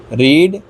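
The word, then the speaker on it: read: Watch, watched, watched, देखना, रीड, रेड, रेड, पढ़ना। इस पे थोड़ा ध्यान देंगे। स्पेलिंग सेम रहती है लेकिन इसका प्रोनाउंसिएशन, इसको बोलना थोड़ा अलग होता है।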